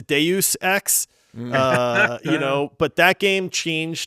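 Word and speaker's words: Deus Ex: I caught some Flack for this so it's Deus x uh you know but that game changed gaming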